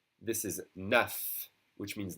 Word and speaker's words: neuf: That F is pronounced like a V.